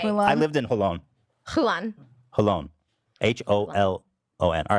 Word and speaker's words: Holon: You didn't even get close to saying it right. Oh my God. I was like, Hulan. Moses and Ela are born in a city called Hulan. Holon. Hulan. No, not Hulan. Sounds like Mulan.